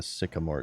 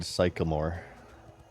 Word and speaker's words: sycamore: and Rogues Sycamore branch I used to not know how to pronounce this until I listened to Dream a Little Dream of Me by Mama Cass of The Mamas and the Papas when she says birds singing on the sycamore tree a Little Dream of